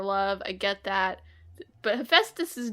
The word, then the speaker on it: Hephaestus: I'm the big book of Greek myths in my childhood has made me 95% confident in that pronunciation, unlike everything else. Which doesn't make sense because it's spelled stupidly.